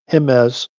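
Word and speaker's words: Jiménez: He wanted to correct me that uh you pronounce it with a H cuz it's Latin.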